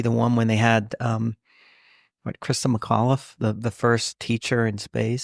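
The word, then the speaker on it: Christa McAuliffe: shuttle, and for the one that, for that to happen, for it to be the one when they had, Krista McAuliffe, the first teacher in space.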